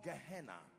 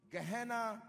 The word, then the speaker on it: Gehenna: most important for our discussion one is called gehenna gehenna is spelled g e h e w n a